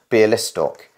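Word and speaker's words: Białystok: as a b a or BR list stalk beer listock but surely that should be a wha that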